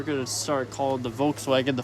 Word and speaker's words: Volkswagen: to start calling the Volkswagen the Volkswagen. Okay. The Volkswagen. You realize when you say it though, in German, the V is pronounced like an F.